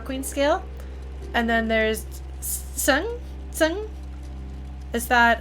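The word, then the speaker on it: Tseng: the scale is but is it Seng or Sung? Because I thought it was Seng because it has an E, and then I heard people say it differently. And I'm not very good at pronunciations, but I want to try to get as close as I can within the limitations of my accent. So Zach winds up. So it is Sung.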